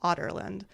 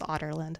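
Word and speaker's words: Adarlan: I was reading this automatically said otland because that's that's what it sounded like in the audio book so that's how they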